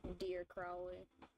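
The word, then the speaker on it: Dire Crowley: I mean, I keep saying his name wrong. It's Dear Crowley.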